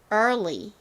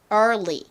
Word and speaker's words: early: EAR은 소리, 그리고 LY는 리 소리. 그래서 early, early 이렇게 발음이 되는데요. 자, 천천히 따라해 보시도록 할게요. early. 혀를 꼬부렸다가 그 다음에 앞니의 뒷부분을 혀로 치면서 리 이렇게 발음해 주시면 됩니다.